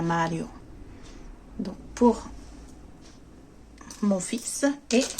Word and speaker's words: Mario: Donc Mario en français, mais nous on le prononce en italien Mario.